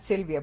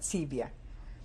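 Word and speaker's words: Civia: my grandmother was silvia not sylvia but sebia would you spell that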